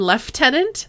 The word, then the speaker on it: lieutenant: wait until you hear the British pronunciation of Lieutenant you mean left tenant I've heard it we